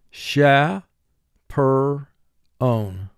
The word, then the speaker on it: chaperone: marked your word correctly sha per own notice ch has a dotted underline under it because ch here is representing its third sound god guide we had